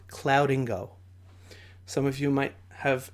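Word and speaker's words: Cloudingo: I personally love this tool and it's called clouding go some of you might have not heard of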